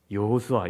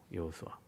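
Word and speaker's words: יְהוֹשֻׁעַ: 유대인의 언어 이스라엘의 언어 히브리어로 발음하면 여호수아 이래 되는 거예요 아 모세 후계자 여호수아 예 똑같은 발음이에요 여호수아 헬라어로 발음하면 이에수스 우리가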